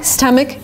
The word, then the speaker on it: stomach: to pronounce this word it's not correct to say stomach it's not ah like father it's not an a it's a short sound uh like cup and up and cut uh St St stomach